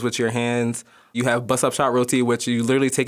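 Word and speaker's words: bussup shot: You have busup shot roti which you literally take it in a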